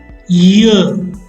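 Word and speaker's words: yeux: Pronounce un œil, O-E-I-L. Un œil means eye. What's the plural? Ear, des ear.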